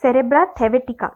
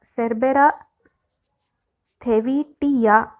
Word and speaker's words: Cerbera thevetia: Now let us move on to Cerebra thevetica. Cerebra thevetica is this one. See, this is Cerebra thevetica, right? Thevetia. Cerebra Cerbera. Oh my God, Cerbera thevetia. I was telling the name wrong all the time.